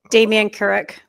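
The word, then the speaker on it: Damien Kurek: That the incumbent uh MP, is it Kurrick? How do you pronounce his name? Damian Kurrick.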